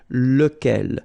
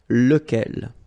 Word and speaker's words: lequel: So remember, you've got to pronounce it lequel. Even if you've got this QU, okay? Remember that this U phonetically doesn't exist, so lequel.